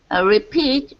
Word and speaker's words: repeat: About 95% of the time, we change the stress. Stress the first syllable when it's a noun. Stress the second syllable when it's a verb. Repeat is a noun.